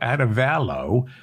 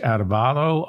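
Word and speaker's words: Arévalo: entitled to copyright protections Bernardo adevallo again somebody told me it's pronounced that way I uh Bernard adubato won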